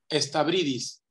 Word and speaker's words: Stabridis: Híjole, tu apellido no sé bien cómo se pronuncia, man. Estabridis.